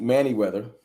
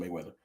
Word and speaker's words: Manyweather: Then he got with Duke Manyweather, and I got that right. I used to get his name wrong. I have to call him Mayweather.